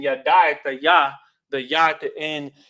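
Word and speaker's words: ידע: Now the root word here is Hebrew Strong's 3045 yada. Yad, it's like a yad ya. Yada is how it's pronounced in modern Hebrew.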